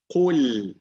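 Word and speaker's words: قُلْ: Qul. Brother Norman, you there? So it should be Qul a'udhu. Qaf is heavy, so we don't see ku, we see qu.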